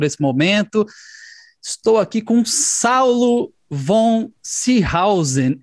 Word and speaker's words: Saulo von Seehausen: Estou aqui com Saulo von Seehausen. É essa a pronúncia, Saulo?